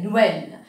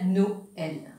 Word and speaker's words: Noël: Ils permettent de nous créer une syllabe. Hein? Me donne un exemple. Noël. Je ne vais pas dire Noël. On casse mot là ici, on dit Noël.